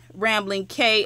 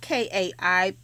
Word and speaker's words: Kai: And of course, Rambling K, I'm sorry, you guys, I'm reading. Rambling K is on here, and it's spelled K-A-I because it's Kayla, but it's pronounced K, not Kai.